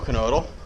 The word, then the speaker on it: Knodle: I'm here with Knodle. Hello. You pronounce the K, huh? Pronounce the K, like Knievel. Okay, there you go. All right, so here with Knodle, and we're talking about, you have this really cool drill.